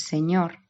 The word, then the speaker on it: Señor: vemos la última palabra que es Señor, es aguda porque el golpe fuerte de la palabra va en ñor, tendríamos que contar esas